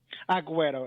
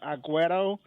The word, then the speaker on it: Agüero: going to be uh Aguero. It's like you saying an O at the end.